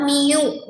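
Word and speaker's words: μ: Ini bacanya adalah mu.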